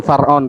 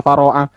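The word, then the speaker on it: فرعون: Oh, mantap, langsung Far'on. Tadi ada yang baca Faro'ah. Far'on sama dengan Faslun, seperti itu loh.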